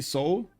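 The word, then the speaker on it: Seoul: it's so big um you don't pronounce the e in Soul okay so I say soul okay huh let's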